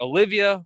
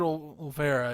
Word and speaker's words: Olvera: Olivia, I think that's his last name. I might be pronounced. David Olvera is how it is. Yeah, I think we keep adding extra I is what we're having.